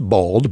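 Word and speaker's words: balde: bald actually comes from an Old English word pronounced bald but spelled b a l d e okay really which in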